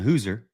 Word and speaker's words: Hauser: Number 81, Nolan Hauser, or Hooser, Nolan Hooser. I got to say it right.